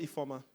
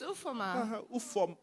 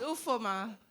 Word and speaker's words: Ufoma: It's not Ifoma. It's Ufoma. It's Ah. Ufoma.